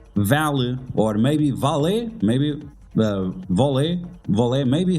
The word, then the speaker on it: Vahl: pronounce the name of Vole. Like they call it Vahl, but it's not Vahl, it's Vole.